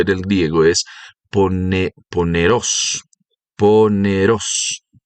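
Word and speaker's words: πονηρός: El verbo o la palabra que traduce aquí maligno en el idioma griego, porque el evangelio se escribe en el griego, es pone poneros.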